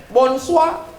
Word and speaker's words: bonsoir: tulisannya Bonjour bacanya bonjong tulisannya bonsoir bacanya bonus wa siapa nama kamu komong